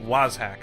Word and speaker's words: Wazhack: That's how we say it. Was hack. I've been saying it wrong in all my other videos.